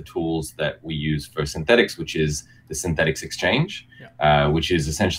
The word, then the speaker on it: Synthetix: recently rebranded to synthetics is that how I pronounce it Kane yeah that's right synthetics yeah which is a little bit easier to